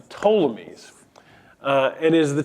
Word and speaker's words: Ptolemies: Silent P at the end, the Ptolemies. And it is the Ptolemies that become the rulers over Judea.